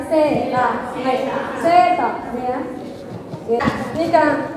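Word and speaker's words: セーター: Bacanya bukan sita ya, seta.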